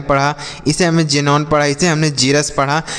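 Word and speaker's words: xenon: देख रहे होंगे कि एक्स का जो उच्चारण है वह ज के रूप में हो रहा है। ठीक है? जैसे हमने इसे पढ़ा जीरक्स। इसे हमने जाइलम पढ़ा। इसे हमने जेनोन पढ़ा।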